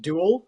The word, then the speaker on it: Dobhal: And just for reference, my name is pronounced Duel, like Jewel.